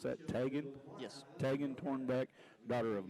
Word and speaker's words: Tegan: Tegan Tornbeck, is that how you pronounce that? Tegan?